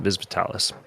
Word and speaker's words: Vis Vitalis: It was later revealed that famed Autobot Thunderclash has a ship named Vis Vitalis. I'm sorry, that's probably pronounced it, Vis Vitalis.